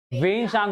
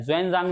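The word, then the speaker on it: 玄奘: वेनसांग होता है, ज्वेनजांग नहीं होता है।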